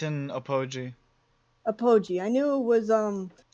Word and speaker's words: Apogee: Time to go to Apology. You know, I'm pretty sure it's apogee. I know how it's Apology. supposed to be pronounced, but I don't like the way that that's pronounced, so I changed it.